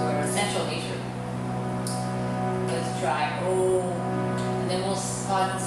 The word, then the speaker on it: Om: Om. Pranava, the cosmic sound. The sound that nourishes our nervous system and connects us to our essential nature. Let's try Om.